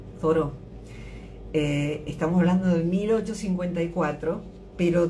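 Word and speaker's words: Thoreau: porque me acordé de esta frase amo a toró Henry David toró se escribe th h o r e a u toró estamos hablando de 1854 pero da una frase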